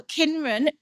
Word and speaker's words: Kynren: So Kynren echoes the old English word Kynren, but spelt with a C, and thinking of kin as in family, generation, next of kin.